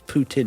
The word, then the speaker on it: Putin: I say it's Putin, isn't it? That's how you pronounce it, like a tin full of poo.